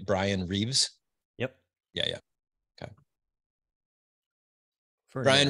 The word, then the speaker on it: Bryan Reeves: and by the way I'm saying it right Brian Reeves yep yeah yeah okay Brian Reeves welcome to